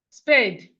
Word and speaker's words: spade: We have spade. We have spade. Spade. The E here is silent.